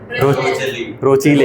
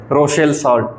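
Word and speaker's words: Rochelle salt: रोचीले हैं, रोशेल सॉल्ट। अभी तो बहुत सारे रोचीले नहीं बोल रहे थे, रोशेल सॉल्ट है ये, थोड़ी सी वो को मिलेगी तो ऐसी रोशेल सॉल्ट, ठीक है।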